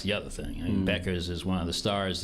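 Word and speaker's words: Bueckers: Beckers. It rhymes with checkers.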